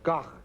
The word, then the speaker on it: Van Gogh: of wanted a famous painter, and you said Van Gogh, or Gogh, as they say in Holland.